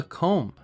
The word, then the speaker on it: comb: This is called a comb. Don't pronounce the B.